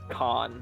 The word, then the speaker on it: Khan: Maharaja Karn. So it's Khan, not Karn. Is it Khan? Yes. It's Khan. It's Khan, There's no okay. R. Is there? There is I- an R, They but just Khan.